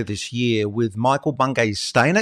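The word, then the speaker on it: Stanier: So you're running an event coming up later this year with Michael Bungay Stainer. Is that how you say it? Michael Bungay Stania. Yeah, Stania, right?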